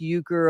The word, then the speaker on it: Urker: I guess it's true, it's probably pronounced Euchre over there in Turkey, but here it's pronounced Urker, and it doesn't seem to bother the original members that hold that name.